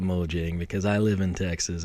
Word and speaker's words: Mojang: of cool you know everyone's Swedish and so it's like moang and I'm still going to call it Mojang because I live in